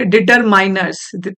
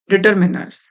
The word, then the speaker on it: determiners: First of all this is नॉट डिटरमाइनर्स। This is नॉट डिटरमाइनर्स। This is डिटरमिनर्स। डिटरमिनर। इसका pronunciation डिटरमिनर होता है।